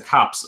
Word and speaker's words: copse: There's like these little, I don't know, whatever it's a copse of trees, right? Is that how you say it? COPS? Yeah.